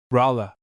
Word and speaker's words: Raleigh: to him, so that what should have been Raleigh became Rala. The request thus written was sent to the legislature and the name of the town became fixed. The inhabitants generally pronounce it as if the intended spelling had been adopted.